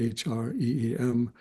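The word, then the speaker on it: ह्रीं: You can spell it phonetically, H-R-E-E-M.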